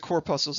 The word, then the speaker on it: corpuscle: puzzle so let me clear this up i'll spell it for you corpuscle and there are two types of core puzzles i want to introduce to you the first